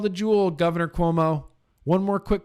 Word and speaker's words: Cuomo: cessation one more quick call to Jewell Governor Cuomo one more quick call to Jule and I